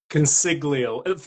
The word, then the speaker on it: Consiglio: I don't want to butcher the spelling, the pronunciation of your last name. How do I say it? Consiglio.